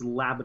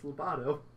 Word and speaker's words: Lobato: the lungfish and Lobato it's labid oh they say his name it's Lobato just doesn't work so